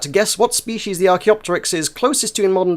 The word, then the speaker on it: Archaeopteryx: our pronunciation is wrong he's got rk opteryx it's it's archaeopteryx thank you very much the